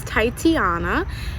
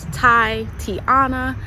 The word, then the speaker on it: Ty-tiana: beginning my name is titiana it is just pronounced the way it's spelled Tai Tiana um yeah and I